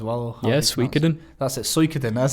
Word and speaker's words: Suikoden: That's it, Suikoden.